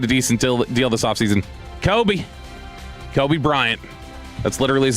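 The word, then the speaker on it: Coby Bryant: going to get a decent deal this offseason, Kobe Bryant. That's literally his name. It's spelled C-O-B-Y, though.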